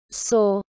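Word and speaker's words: sou: en français par exemple pour dire je suis on va dire sow qui s'écrit s ou humé donc ils se prononcent saut donc voilà donc si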